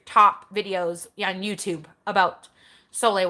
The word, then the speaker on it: Sole: videos on YouTube about Soleil water but it's spelled Sol e so if you're looking